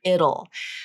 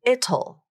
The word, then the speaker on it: it'll: So this word can be challenging for non-native speakers to pronounce because what they want to do is they want to pronounce that T, it'll. It'll. All right, but I don't know, 99% of the time, this pronoun, which is also a contraction, right, is reduced.